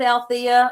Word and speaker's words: Alethea: And Alethea is spelled funny. It's ALETHEA. That silent E is the only thing quiet about me, because as you can tell, I do like to talk a lot.